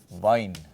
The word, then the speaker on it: Wein: Wein is the German word for wine, the same pronunciation, but spelt like this.